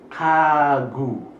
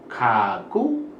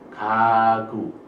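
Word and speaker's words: 가구: Bacanya kagu. Bukan kaku, bukan gagu, tapi kagu.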